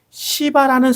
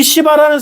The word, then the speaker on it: 시바: 그런데 오늘 성경 본문에서 나오는 시바라는 사람이 있었어요. 바 발음을 약간 조심해서 해야겠죠. 약한 된 소리로 세게 바람하면 안 됩니다.이 시바라는 사람이 나귀 두 마리에 어마어마하게 많은 음식과 과일과 포도주를 가지고 다윗에게 찾아가서 그것을 베풀어 줍니다.